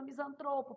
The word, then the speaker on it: misantropo: é uma palavra paroxítona misantropo palavra paroxítona interin PR paroxítona recorde